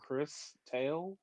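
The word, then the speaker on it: Cris Tales: looking called Chris Tales uh c r i s Chris I pronounce it Chris Tales I don't know if that's wait are you saying c h r i s c r i s no h it's it's close it's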